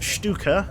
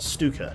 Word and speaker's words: Stuka: absolutely fine awesome stuff it's pronounced Stuka not Stuka Stuka okay thank you can't boy